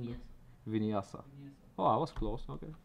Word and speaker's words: Vinyasa: Do you know the pronunciation? Yes. Vinyasa.